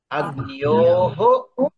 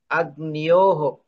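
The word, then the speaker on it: अग्न्योः: Agniyoho. Agnishu. So the Dvivachana form, be careful. Agnyoho. Gakaraha, Nakaraha, Yakaraha, Vokaraha. There are 4 letters in the second syllable.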